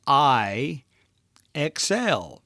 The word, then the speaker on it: IXL: I EXL stands for it's really just phonetically means I xl they abbreviate it to